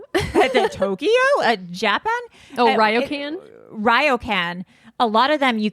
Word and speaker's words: ryokan: And I was looking at I'm going to mispronounce it. Royken? Tokyo? The Tokyo? Japan? Oh, Ryokan? Ryokan.